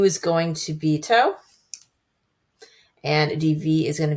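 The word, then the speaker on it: tau: to t of uh toe. And you might call that toe. Uh, according to the internet, it's pronounced toe. I'm not Greek, so I I'll go with toe, but I'm still getting used to it.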